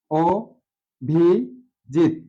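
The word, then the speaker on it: অভিজিৎ: যে কোন নাম হিসেবে তাহলে এখানে কি হবে ও ভি অভি জিত ও ভি জিত জিত জিতে খন্ডত পরিবর্তে পূর্ণত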